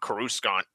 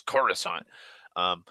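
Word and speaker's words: Coruscant: like this happens so he was still pronouncing it current and George and other people were just bitching at him like no it's not kuru Scott you little it's Khorasan or the fact that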